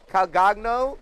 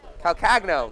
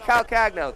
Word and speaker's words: Calcagno: up Reef ravazza kago please help me with your last name cuz I definitely butchered that Calo maybe calcagno there we go somebody help me calcagno thank you and Paul Cary all